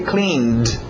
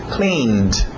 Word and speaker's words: cleaned: sim daqui a pouco Clean passado regular mas só o som de D por isso que a escrita está um pouco diferente aí cleaned cleaned para no D did